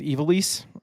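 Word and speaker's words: Ivalice: Uh, everybody I've heard says it's Eively.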